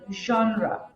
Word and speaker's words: genre: pronunciation it's genre as it's derived from a foreign language you know that's why the pronunciation of this is not like traditional English words and yeah so among